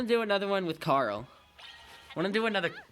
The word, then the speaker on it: Karyl: do another one with carl i want to do another battle with miss carl i know peccary pronounces it carol so like am i